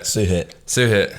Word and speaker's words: Suhit: Suhit.